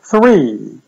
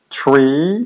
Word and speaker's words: three: Wystarczy, że będziemy pamiętać, żeby przy wymowie TH wkładać język między zęby. Three. Three. I starajmy się nie mówić tree, dlatego że to oznacza drzewo, ani three, bo to no, nie brzmi dobrze, tylko three.